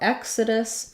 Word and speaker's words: Exodus: difficult situation there so for Exodus first syllable stress letter e says that e sound letter X can make different sounds in English in the word Exodus it has the K and sounds our letter O is